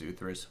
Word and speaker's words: Uthris: All I said in Japanese there was, hello, my name is Uthris. What is your name? You don't pronounce the S, whatever.